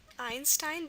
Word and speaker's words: Einstein: might be with um the name Einstein Einstein definitely again twice Einstein so this is an easy way to remember the rule that the I I and German is going to be spelled with an EI except for German words